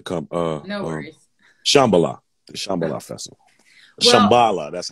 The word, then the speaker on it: Shambhala: Shambhala, the Shambhala Festival.